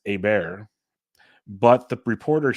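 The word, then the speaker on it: Åberg: pronounce the last name and over there it's a bear but the reporter said an acceptable U.S pronunciation is aberg so part of me is like are you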